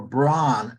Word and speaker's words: Bran: son of Saint King bran the Blessed or Brawn actually b-r-a-n and his wife cartus